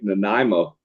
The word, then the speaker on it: Nanaimo: always pronounce it wrong i'm always like nanaimo like the bar like the namo bar right does it that's